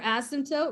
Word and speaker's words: asymptote: considered my what your asymptote remember the p is silent and the equation or